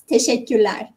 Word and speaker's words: teşekkürler: If you want to say thank you, it's teşekkürler. Teşekkürler.